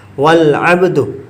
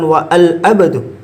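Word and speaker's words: وَالْعَبْدُ: Wal abdu, bukan wa al abdu, wal abdu. Tidak dibaca.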